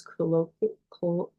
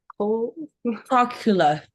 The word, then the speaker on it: cochlear: And then the sound is, Darren is a deaf person who has colloquial, I'm sorry, I can never pronounce that properly. Cochlear.